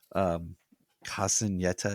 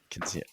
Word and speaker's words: Quinceañera: But Sarah is having her Casineta. Is that am I pronouncing it? Quinceañera.